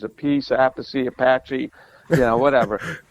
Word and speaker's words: Appice: So Carmine decided on Appice. All right, and that was like in 1975, 76. So I was just getting going, and I said, I don't like Appice. Sounds like a piece of pizza or a piece of cake or something. So I'm sticking with Appice.